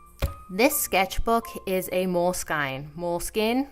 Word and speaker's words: Moleskine: Moleskine? I'm going to call it Moleskine, because I'm Canadian and that's how I pronounce things.